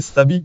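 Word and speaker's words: Syabi: Le musée se surnomme lui-même Siabi, prononcé Sabi comme il est courant en japonais.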